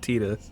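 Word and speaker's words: Tidus: probably it I mean the voice actor who played tetus called tetus so nothing confirmed in person like I got the paycheck to pronounce it tetus it's true it's nothing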